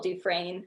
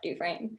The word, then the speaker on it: Dufresne: everyone wants to spell Dufresne, not Dufresne. Right. So my Instagram handle is Dufresne. So it's ASHLEY.DUFRESNE. Beautiful. That's it. Thank you. Yeah, I got a silent S on there.